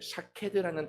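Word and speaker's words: שָׁקֵד: 것을 원어로 보면은 그 샤캐드라는 단어입니다 근데이 샤캐드라는 단어가 어떤 단어랑 유사하게 표현을 한다면 발음을 한다면 바로 지키다라는 단어랑 매우 유사하게 발음을 합니다 아몬드 나무 같은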